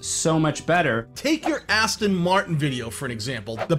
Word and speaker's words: Aston Martin: and got popular after a year where I mispronounced Aston Martin, which is Aston Martin. I didn't say Austin Martin, but they all seem to think I said that.